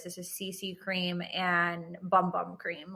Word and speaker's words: Bum Bum: This is CC cream and bum bum cream. Like, I don't care about this stuff. Pronounced boom boom.